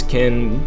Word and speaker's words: Kyn: of the game kin I guess it could be pronounced K with that kyn but I think it's kin kyn is actually I